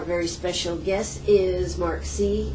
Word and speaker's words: Seay: and how do you say your last name c c c mark C well it's good